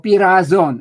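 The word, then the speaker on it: πειράζων: Matthew describes Satan as one who tempts, or pirazon. I'm using the modern Greek pronunciation.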